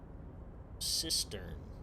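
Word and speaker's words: cistern: a tank for sorting water especially one uh sistern uh yeah that's how you pronounce it uh especially one supplying taps or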